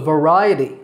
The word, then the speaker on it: variety: that we include a variety of fruits and vegetables in our diet. Did you notice how I said that word? It's variety. V-R-I-A-T, with the stress on the second syllable, ri. So it's variety.